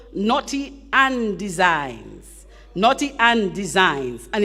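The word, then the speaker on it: Knotty an Dezigns: Anna Reese she has a little business called Naughty and Designs naughty and designed and it's spelled k-n-o-t-y capital a n capital d e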